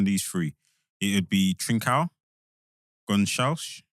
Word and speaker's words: Gonçalves: It'd be Trincao, Gonçalves, or Gonçalves, that's the English way of pronouncing it.